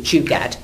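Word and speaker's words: jugaad: Indian concept called um Jad um now whenever I I'm Jewish so whenever I heard the word oh JJ but actually it's not spelled like that it's j u g a a d Jad nothing to do with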